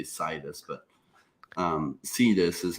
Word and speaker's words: Sidus: But Sidus is how he pronounces it.